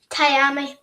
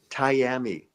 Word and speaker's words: Tiami: that because uh like I said uh it's pronounce it again for me. Love Tyami. Tyami. Tyami.